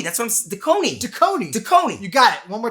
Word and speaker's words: Dekoni: ready ready grab some dakani bullets and never hear the nagging of your loved ones again no no no it's it's it's the kony daconi la it's a long o you got it duh